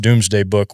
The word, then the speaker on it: Domesday Book: this thing called the Domesday Book, and it's pronounced Doomsday Book, where everybody had to put their names in these records, and they had to take a surname.